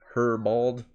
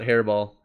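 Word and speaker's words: Herebeald: Hairbald. It's not Hairball. Hairbald. Hairbald. I'm gonna just go with that.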